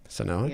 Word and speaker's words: Senhoa: You're the board president for the Senhoa Foundation. Is that the way to pronounce that? That's correct. Senhoa, nailed it, thank you.